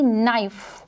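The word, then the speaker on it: knife: वो साउंड क्या थी नाइफ नाइफ तो नाइफ जो है उसमें एन की साउंड ए रही है विच इस नोट एन साइलेंट कॉन्सोनेंट है जो की म्यूट है और यहां पर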